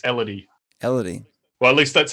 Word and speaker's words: Elidi: contemplation is it uh illidan is it actually pronounced illidan i should check that uh no it's elodie well at least that's